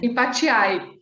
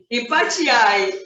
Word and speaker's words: Empathiae: E é assim que se pronuncia, né? Empatiai. Empatiai.